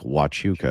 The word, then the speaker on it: Huachuca: Fort Huachuca, pronounced like Wachuca, is the home of the US military intelligence.